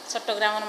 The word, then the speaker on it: চট্টগ্রাম: চট্টগ্রামের মানুষ হিসেবে আমি মনে করি নাম মান চট্টগ্রাম নেওয়াই উচিত।